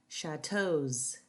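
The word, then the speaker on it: châteaux: The ending is pronounced as Z. Chateaus, beaux, tableaux.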